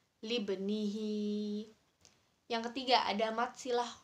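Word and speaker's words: لابنه: Jadi huruf ba-nya bertanda sukun di tengah kata. Jadi dibacanya memantul. Libnihi.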